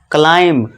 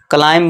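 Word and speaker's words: climb: देखिए एम के बाद बी है। तो यहां बी क्या है? जो यहां पे बी हमारा साइलेंट हो जाएगा। और इसे हम क्या पढ़ेंगे? क्लाइम। क्लाइंब नहीं जो आप गेम खेलते हैं।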